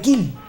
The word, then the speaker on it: Kiel: la base naval de Kill se escribe kiel y más empezaron a